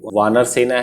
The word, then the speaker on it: वानर सेना: बनर नहीं, ये वानर सेना है, इंग्लिश में थोड़ा अलग हो जाता है प्रोनाउंसिएशन, ये एक्चुअली में वी लिखते तो ज्यादा अच्छे से प्रोनाउंस करते बनता।